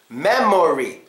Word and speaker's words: memory: Memory. Do you know which syllable here gets schwa'd? Well, it's the syllable in the middle.